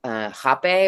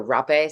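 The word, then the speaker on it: rapé: You do hape or rape, some people pronounce it, which is like a tobacco powder that kind of opens up Yeah.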